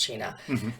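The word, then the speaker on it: Cina: which is a c-i-n-a and cheap but it's pronounced China and they're from Colorado and um so they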